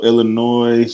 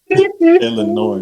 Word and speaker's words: Illinois: Not to correct you, brother, but you know the S is silent, right? And when what? Houston, Illinois, brother.